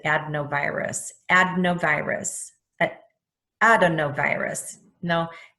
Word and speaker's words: adenovirus: up on merriam-webster and it pronounced it ad no virus adenovirus but adenovirus no edna virus that's what I heard